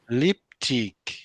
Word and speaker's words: lipstick: think if I get you, you say with compound noun, you put the stress on the first word.